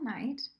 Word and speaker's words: knight: so here is little Knight in the word a knight when you're talking about somebody who defends something is spelled with a silent K so it's KN making